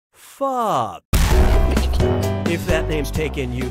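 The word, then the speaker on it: phở: The preferred answer is, this delicious soup is pronounced pho.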